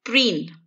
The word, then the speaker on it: preen: The next word is preen. The hint for this word is in its pronunciation. This word rhymes with queen, and remember that queens are always dressed up in all their finery.